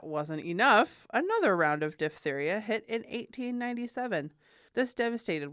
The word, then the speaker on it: diphtheria: That is diphtheria, as we learned, not diphtheria, like most people.